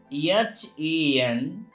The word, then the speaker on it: handsome: Whenever D is found in any word after N, D is silent, as H-A-N-D-S-O-M-E. It is handsome, not handsome.